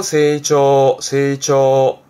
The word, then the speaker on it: 成長: 세이초. 앞에 거는 몸 신자인데요. 이게 신장, 말하자면 키를 말하는 거죠.